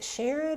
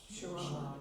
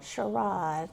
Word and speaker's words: Sherrod: Do y'all in Martin County pronounce it Sherid or Sherrod? Sherrod. Sherrod. Okay. In Nash County, we pronounce it both ways.